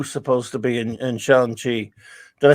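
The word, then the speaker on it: Shang-Chi: to be in in seanchi did i say it right that time steve mentioned he makes me say shang chi correctly because i've always said i used to mention sometimes but it's shang i hope i got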